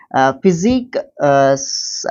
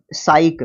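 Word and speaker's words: psyche: आप उसको नहीं फिजिक, साइक, हाँ साइक प्रोनाउंस करेंगे इसको।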